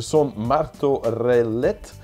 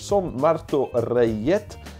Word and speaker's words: Son Martorellet: was hard to pronounce, the Son Martorellet. Rayet, that has to be because it's Spanish. Son Martorellet.